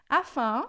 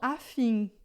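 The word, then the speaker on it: afin: Ó, o in, como eu expliquei do caso no começo, em francês é sempre de an, tá? Então, você nunca viu essa palavra na sua vida, mas você já aprendeu aqui comigo que é sempre an, então você vai falar afã e não afim, tá? em francês sempre som de a.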